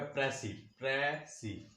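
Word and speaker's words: précis: इसका जो प्रोनाउंसिएशन है वो है प्रेसी प्रेसी। कुछ लोग इसको प्रेसी पढ़ते हैं, ऐसे नहीं, हमने प्रेसी पढ़ना है इसको।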